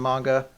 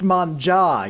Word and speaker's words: manga: started working at Viz, he used to call it manga. Now he calls it manja. I was like, Like he's trying to get like one up on you. yeah. He's like, actually, son, it's pronounced manja. You're like, no, it's not. It's really not.